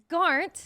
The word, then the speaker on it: Garnt: And then we have Garnt, Yes. aka Gigguk. Yes. Did I pronounce that correctly?